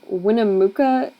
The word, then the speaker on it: Winnemucca: we were stranded in Winnemucca Nevada I think that's how you say it um it was just